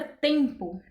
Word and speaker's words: tempo: Outro exemplo é a palavra tempo. Tempo. O E, ele é representado de forma nasal. Então, o N e o M aqui, eles não têm nenhum significado. Literalmente, é como se eles não existissem.